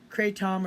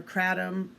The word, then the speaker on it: kratom: Also more on the kratom or kratom, depending on how you pronounce it.